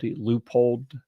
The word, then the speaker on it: Leopold: to um call out the proper pronunciation which is more like uh like you'd spell it l p Loop hold like if you say it that way that's the way they want you to say it but uh